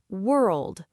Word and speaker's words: world: Start with were, like the beginning of word. Now, without stopping, let the tongue lift and finish with old. World.